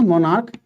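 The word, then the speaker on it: monarch: CH का उच्चारण क्या हो रहा है यहाँ पे? क हो रहा है।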